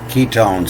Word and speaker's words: ketone: And they still use the same word today, the ketone salts. This Q is pronounced as a K here, the ketone.